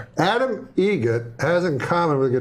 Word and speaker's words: Eget: Eget. Spelled differently. Like the bird. That's Eget. Do you know what Adam Eget has in common with a guitar player? Adam Eget has in common with a guitar player.